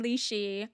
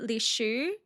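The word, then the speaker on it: Lishu: of the concubine names, which is Li Hao and Li Shi, but their pronunciations are actually Li Hua and Li Shu.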